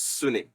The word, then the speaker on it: sune: In Japanese, shin is pronounced as sune, but that's another thing altogether.